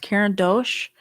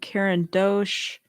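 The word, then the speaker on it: Caran d'Ache: I even got out my I think it's pronounced Karen Dosh uh crayons I'm gonna grab them really quick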